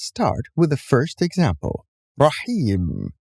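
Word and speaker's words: رحيم: with the first example raheem here we have ye with nothing above it and the letter before it which is ha has a kasra below it so actually we do not pronounce the yeah but we pronounce the letter before it ha with extending the kesra it's not rahim it's the second example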